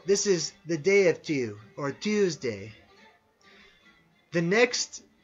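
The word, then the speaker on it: Týr: named de and it's it's spelled tyr but it's sort of pronounced like t o o almost today the so this is the day of two or tues day the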